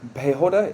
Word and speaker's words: Piehota: Sheena Piehota. Is that the correct pronunciation? Yeah, Fantastic. Piehota.